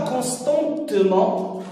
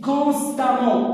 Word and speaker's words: constamment: Constant, constante, on ne dit pas constantement, on dit constamment, A-M-2-M.